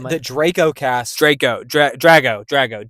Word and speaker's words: Drago: Um, we do have a Dra a Draco a Draco cast. I'm not familiar with the actor. I don't can't say his name. The Draco cast. Draco. Dra. Drago.